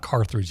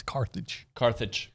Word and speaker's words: Carthage: It's not Carthage, even though my mother used to pronounce it that way. It's Carthage.